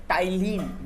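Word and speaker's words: ptyalin: नाम एमाइलेज होता है, और मैंने ब्लॉक में लिखा है वो पी साइलेंट है जो ब्रैकेट में लिखा है। टाइलिन बोलते हैं उसको, पर टाइलिन नहीं बोलते हैं उसको टाइलिन बोलते हैं, क्योंकि पी साइलेंट है उसमें।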